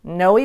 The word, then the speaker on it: Noe: but in fact it's pronounced no we you pronounce that yon the end so Noe Valley and then up in snowmen Napa if